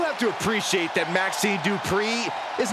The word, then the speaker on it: Dupri: Uh, Michael, it's pronounced Dri. The following contest is scheduled for one fall. Making her way to the ring from Phoenix, Arizona, Maxi Dri.